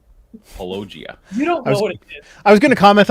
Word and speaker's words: Paulogia: always mispronounce my name it's apparently palogia i was going to